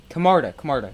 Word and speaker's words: Camarda: Jake Camarda.